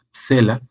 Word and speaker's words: Selah: Que en hebreo, en la traducción, generalmente lo ponen como Selah, pero bueno, la Strong dice es Selah, con S y acento en la E, pero también, ¿te acuerdas